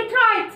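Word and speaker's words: write: زي كلمه رايت، دي اشهر حاجه يعني يكتب. احنا بنكتب الدبليو بس مش بننطقها، بنكتبها بالشكل ده ما بننطقش الدبليو، بنقول على طول رايت رايت مع انها اولها ايه؟ اولها دبليو. يبقى الكلمه اللي تبدا بدبليو ار مش بنطق الدبليو.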